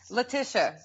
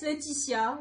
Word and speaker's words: Letitia: Letitia. Letitia. Okay. Uh-huh. Yeah. So it's Letitia in French and Letitia. It's close, yeah.